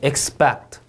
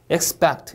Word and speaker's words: expect: expect, expect 이음절 강세.